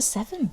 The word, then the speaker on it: Severn: It's the River Severn. River Severn. Oh, it's spelt differently though, isn't it? It's like the Seven number. as in the number.